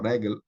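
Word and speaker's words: רֶגֶל: Então, ozen é segolado, Keren é segolado, regel é segolado, ou seja, a primeira sílaba aqui é a tônica.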